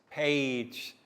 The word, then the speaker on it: page: the g sound yes page soft g sounds like j so that gao excellent